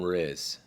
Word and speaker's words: Riz: We call him Riz.